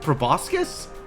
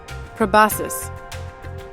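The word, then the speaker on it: proboscis: Probasus. Okay. Soft C and an A sound instead of an O sound.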